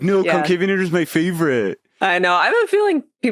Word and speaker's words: Concavenator: Yeah, I wanted to say Concavenator, you know, or something like very sexy, but it's Concavenator.